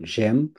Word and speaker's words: j'aime: এই এম এ বাদ দিয়ে বলবেন জেম।